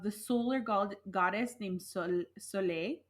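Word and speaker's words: Saulė: solar god goddess named sole so I'm not sure if I'm pronouncing that right but it has an accented goo on the E so I feel like it's a long e there but anyways it's a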